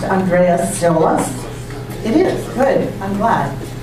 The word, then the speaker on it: Andreas Tziolas: I'm going to ask you if your name is pronounced Andreas Tziolas.